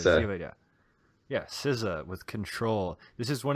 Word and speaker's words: SZA: Okay, number 7 from me is SZA, which that's how you say it, SZA.